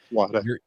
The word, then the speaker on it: Whataburger: people from Texas pronounce Whataburger. I'm just saying, Wada.